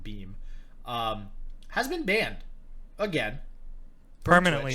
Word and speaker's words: Beahm: otherwise known as a guy beam or bi pretty sure he pronounced beam has been banned again